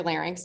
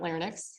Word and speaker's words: larynx: Parts you have your FX um and your larynx and they're FX not ferx larynx not Linex I don't even know what the LX is